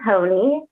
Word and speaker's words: Honea: My name's Honea is the last name. It does not look like that, which is why I say it rhymes with pony.